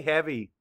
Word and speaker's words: heavy: Say heavy. Map the sounds. E-V-E. Heavy. Spell it. H-E-A-V-Y.